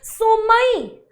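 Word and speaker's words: sommeil: क्या बोला मैंने इसको, क्या प्रोनाउंसिएशन की इसकी, सोमई, जे सोमई, सोमई यानी कि निन्नी आ रही है, बहुत स्लीपी फील कर रहे हैं, आई एम स्लीपी।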